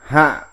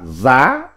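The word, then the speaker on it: 夏: Âm Hán Việt đọc là hạ, còn có âm đọc khác là giá, là dạ.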